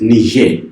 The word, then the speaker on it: Niger: Senegal Mauritania Mali Niger take note of this Niger this is not Nigeria this is Niche can you pronounce that Burkina Faso there